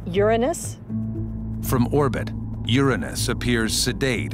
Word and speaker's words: Uranus: one of them has a funny name i pronounce the planet's name uranus from orbit uranus appears sedate and calm but